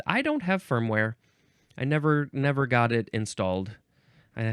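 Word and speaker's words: névé: The synonym, I need to look up how to pronounce this one. It is neve, neve. It is N-E-V-E, and there are accents on the E's, both of them.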